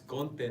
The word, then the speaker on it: Conte: It's Conte, not.